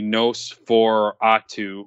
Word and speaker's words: NOS4A2: And then the last, I mean, the last big one is AMC's, premiering the Nosferatu, which is spelled NOS4A2, special screening.